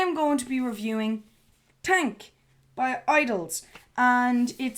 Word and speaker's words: TANGK: going to be reviewing tank by idols and it says it's pronounced cuz I know it's t a n g k it's pronounced tank with a whiff of the G I'm not sure how